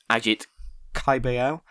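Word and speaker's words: Agit Kabayel: Ajit Caballel. That's how you pronounce his name.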